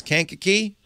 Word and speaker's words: Kankakee: guy you know how I know how to pronounce Kankakee I've been wrongly oh I've been riding on the city of New Orleans there you go it's a train town Kankakee yes what a what a pleasure to talk